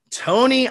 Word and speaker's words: Tony: We have Tony. I'm going to try to get this Rakaupai. How do you pronounce it?